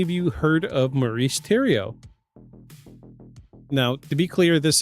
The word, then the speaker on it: Thériault: Um, it is a French spelling. It looks like it looks like it's spelled Theory, but it's pronounced Tio according to Google.